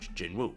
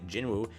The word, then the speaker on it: Jinwoo: just the hunters without Jinwoo, basically, correct? Or again, his name is Jinu. I'll try to pronounce it properly now.